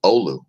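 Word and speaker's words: Oulu: telling me how to pronounce this word it's pronounced Olu here's doc Antarctica highest levels in 30 days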